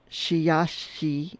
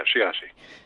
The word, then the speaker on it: Sheyahshe: And you have a great website under Sheyahshe. Did I say it right? Yes, you did. Yeah, Sheyahshe.